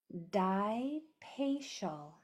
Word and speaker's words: Dipacial: That A is making the schwa sound.